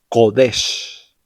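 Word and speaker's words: קודש: Es decir, que palabras como Kadosh y Kodesh realmente sonarían algo así como Kadosh y Kodesh, como si pronunciaras una Q profunda, usando la garganta.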